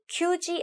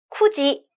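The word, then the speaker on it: 九時: 자, 9시는 규지 안 돼요, 쿠지라고만 발음해요.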